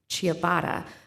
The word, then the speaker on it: Shabbat: client Advocate andreana Shabbat I was told to pronounce it like chabata um so again she